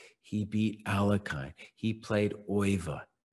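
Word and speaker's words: Euwe: He played Oiva. Oiva is the only guy I don't pronounce in the American accent, who we say you or something like that.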